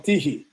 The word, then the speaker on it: Tychy: He's from Tychy. That's how you pronounce it.